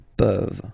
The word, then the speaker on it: peuvent: Je peux, tu peux, il peut, elle peut, nous pouvons, vous pouvez, ils peuvent, elles peuvent. Okay, as usual, this ending, this ENT ending, you write it, you don't pronounce it.